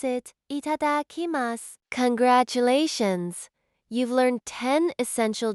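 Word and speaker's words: いただきます: Pronounce it itadakimasu.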